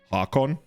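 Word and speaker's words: Haakon: hakon hakon he has he gives me like a norwegian vibe and like every time you speak like a non-english language you're supposed to like properly pronounce things without like this weird english stuff where you just like often have to learn by heart so he's more like hakon and he allows us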